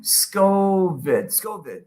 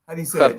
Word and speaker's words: Skövde: How do you say it? Skövde. It? What? Skövde. But there's no f in there. There's an SK. Skövde. You got SK is and then you have which is the O with the 2 dots, and then you have the VDE.